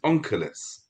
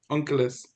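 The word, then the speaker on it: Onkelos: This person his name is Ankulus. It's in English it's spelled O N K E L O S something like that. Unkulus.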